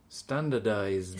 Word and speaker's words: standardized: Because you never pronounce the D at the ends of the words in Spanish. The capital of Spain is, yes, you don't pronounce the D properly.